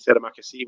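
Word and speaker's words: terima kasih: It sounds like a guy who might have played for Liverpool in the 70s. And that's how I remember how to pronounce Terry Makassi, which is Indonesian for thank you.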